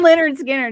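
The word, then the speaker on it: Lynyrd Skynyrd: Okay, you pronounce this. I can't read Leonard anymore. Skinner. Leonard Skinner, top of my list.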